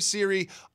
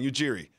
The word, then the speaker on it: Ujiri: the new head coach nurse and GM Messiah Siri all summer long Ujiri I said it wrong iOS a rock all